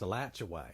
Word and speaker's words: Alachua: Yeah, because it's pronounced Alachua.